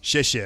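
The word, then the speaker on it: 谢谢: Xie xie, I think is how you say thank you.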